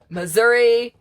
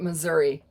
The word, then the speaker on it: Missouri: Missouri is how the locals say it. We pronounce it Missouri. Potatoes, whatever.